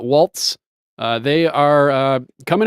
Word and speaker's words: Walz: Kamala Kamala and walls are they pronouncing this walls not Waltz uh they are uh